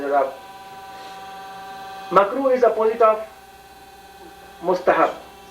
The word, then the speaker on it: mustahab: Mustahab and sunnat, not mustahib. M-U-S-T-A-H-I-B, no, A-B, not mustahib. Mustahab, it is a pronunciation.